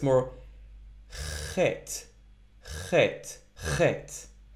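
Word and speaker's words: חית: Next letter is chet. Chet. Sometimes it's a bit hard for non-native speakers to pronounce this letter. Chet. Chet. I'm kind of scratching my throat a little bit.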